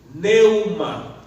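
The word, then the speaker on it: πνεῦμα: Y luego, en el griego es neuma. Se escribe con una P al principio, P de pelota, N-E-U-M-A, neuma.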